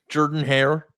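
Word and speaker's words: Jordan-Hare: That's how it's spelled. Jordan. Yeah. Jordan Hare.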